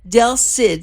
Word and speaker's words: Del Cid: Del Cid, C-I-D? Correct. Did I pronounce this right?